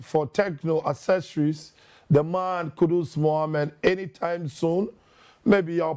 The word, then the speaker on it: Kudus: And so, kudos to Kudus. Kudos to Kudus. Kudus, yes, kudos to Kudus. And I think that it rhymes.